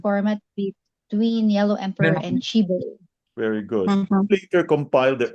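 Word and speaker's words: Qi Bo: Who is, how do you pronounce Chibo? Chibo.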